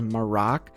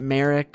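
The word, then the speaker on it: Marrok: hitter here which is morocc I think that's how they pronounce his name in the newest episode is maroc not Merrick or mayrock I think it's morocc this design is obviously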